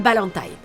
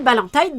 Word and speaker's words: Ballantine: Nous suivons donc les aventures de Bob Moran et Bill Ballantine. Oui, c'est Tyne, pas Tine comme dans la chanson d'Indochine. La narration le précise, ça se prononce comme ça parce que Bill Ballantine est écossais.